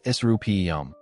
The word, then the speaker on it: Serapeum: The Serapeum, pronounced Serapeum, was the resting place of the sacred Apis bulls, living images of the god Ptah.